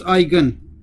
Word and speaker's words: eigen: eigenvalue is called the eigen value okay it's pronounced eigen because i was pronounced icon and you you